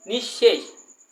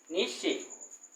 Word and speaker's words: নিঃশেষ: আবার দেখো বিসর্গের পরে তালব্য দুইবার উচ্চারণ হচ্ছে, কি হচ্ছে নিঃশেষ, নিঃশেষ।